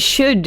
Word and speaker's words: should: Yeah, there's the OU and should is because of the L. Like, there's a silent L. It's should, could.